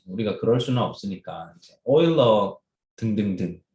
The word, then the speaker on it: 오일러: 그럼 오일러 뭐 유럽 뭐 이런 그리스 말고 뭐 다른 나라는 유일러라고 읽는 애들도 있어요. 혹시나 헷갈리지 말고 오일러가 맞는 발음입니다.